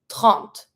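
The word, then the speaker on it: trente: I pronounce the T, but I don't pronounce the E. 30.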